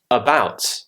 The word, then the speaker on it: about: becomes an uh sofa the word about about so the beginning of the word has now got the schwa sound about I had to call